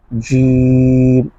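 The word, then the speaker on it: جيم: বা তা সারম করে জিম এটা শক্ত হবে জিহ্বার মাঝখান থেকে জিম জিম হা খ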